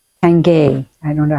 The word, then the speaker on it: Tanguy: And I like Tanguy. Tangay. I don't know how to pronounce his I think name. it's Tenge.